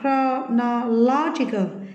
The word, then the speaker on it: chronological: Tiếp theo, tính từ của nó chronological thì lại trọng âm rơi vào no, còn thằng này rơi vào no nhé.